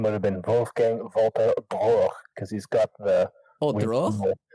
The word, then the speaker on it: Droege: And I think Droege's how you pronounce the last name.